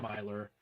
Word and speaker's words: Miler: to uh return to John Miler I butchered his name I I was call him Miller the whole time and then I'm just an idiot so it's John Miler and uh we're going